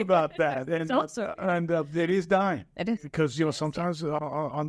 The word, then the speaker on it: Duyne: And, it is Duyne.